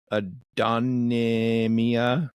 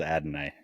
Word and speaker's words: Adonai: to pronounce his name Adonia Mitchell oh Adonai Mitchell Adam okay I'm you said it right I'm not gonna try I believe it is Adonai yes and then they're